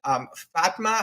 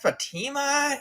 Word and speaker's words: Fatma: And that FATMA, I want to pronounce it Fatma, I believe it's Fatma. We looking at it in the back and we said, was that Fatima? She has been on before. It is not.